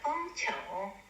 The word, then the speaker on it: 楓橋: 이 시의 제목은 풍교야박이라 하는데, 풍교는 당시에 그 중국어로는 발음이 같은 봉알봉자 펑차오, 봉알봉자를 써서 펑차오라고 했는데, 이 풍교의 위치는 소주시, 호구구, 풍교가도, 창문밖 서쪽 교회에 있는 다리입니다.